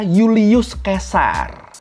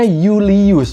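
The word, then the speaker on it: Iulius Caesar: di alfabet latin Roma itu dibacanya Yulius Kesar i-nya tuh jadi konsonan jadi J terus v-nya itu jadi u jadi bacanya Yulius bukan eves Leaves atau contoh lain Misalnya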